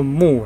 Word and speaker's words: 穆: 再看几个有名的哦，这个字读作妙，也作木，也作谋，不过我